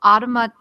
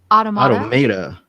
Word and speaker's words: automata: Automata. Automata. Automata? No, automata. Auto? I was gonna trust you. Automata. Auto and mata.